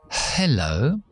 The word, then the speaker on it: hello: es más que eso Hello yo no activo la voz hasta que no llego a la e Hello nunca se hace eso no existe en inglés Por ejemplo he has